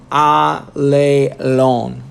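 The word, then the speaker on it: ἀλλήλων: that's written Greek and as aa lay loan is how they pronounce it I'll a loan one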